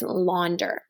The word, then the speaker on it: launder: So the first syllable here says lawn, the second syllable says der, the word is launder.